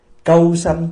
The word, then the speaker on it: câu sanh: Cái chữ cu á, đúng là mình đọc là câu. Câu sanh tức là khi mình